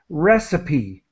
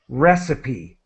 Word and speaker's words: recipe: not pronounce it but in this case it's pronounced well sort of like a y recipe okay and so let's